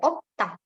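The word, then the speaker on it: 없다: Berarti ini dibacanya opta. Bukan opta, bukan opta, S-nya hilang ya. Jadi opta.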